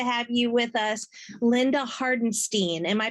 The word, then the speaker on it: Hardenstein: you with us Linda hardenstein am I pronouncing that correctly actually it's hardenstein thank you what may help you remember it is a beer stein just think of a